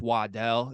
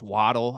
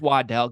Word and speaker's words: Waddell: to see me because it's pronounced Waddell it's not pronounced waddle I had to live with that for quite a few years in my life okay it's Waddell get the name right